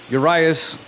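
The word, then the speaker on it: Urías: Urias is how it's pronounced on the mound.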